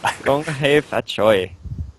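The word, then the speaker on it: 恭喜發財: Gong hei fat choi.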